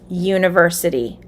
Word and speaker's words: university: to talk about university what sound does the first letter make in the word university yeah yeah which is a consonant sound it is spelled with the u but it sounds like yeah so you would say